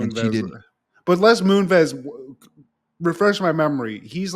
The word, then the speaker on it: Les Moonves: I think it's Les Moonves. Like Moonves? I think it's phonetics, but that's wild.